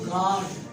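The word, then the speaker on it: guard: B और G के बाद अगर आप यू को लिखोगे तो यू भी आपका क्या हो जाता है? साइलेंट हो जाता है। एग्जाम्पल, आप एक वर्ड लिखते हो बिल्ड, या एक वर्ड आप लिखते हो गार्ड, इसमें अगर आप देखें तो यू को भी प्रोनाउंस नहीं किया जा रहा, सिर्फ और सिर्फ लिखा जा रहा है।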